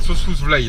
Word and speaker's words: Sossusvlei: J'espère qu'elle vaut le coup cette Sossusvlei là.